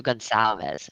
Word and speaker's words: Gonzalez: I thought there was a It doesn't It doesn't You don't pronounce it the way it's spelled. It I knew that, but I couldn't recall. So, Gonzalez.